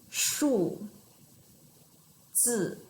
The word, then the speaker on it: 数字: They pronounce the same way, and they are both using chopping tones, fourth tone, right? So hear the pronunciation again. 数字 chopping, right?